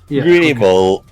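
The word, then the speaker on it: Gible: G it's either a Pokemon or how to pronounce grible grible grible yeah it's grible okay but yeah basically geles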